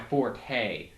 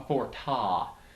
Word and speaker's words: forte: to check my notes pronunciation is not my forte or as correctly pronounced a forta pretty much cactuses are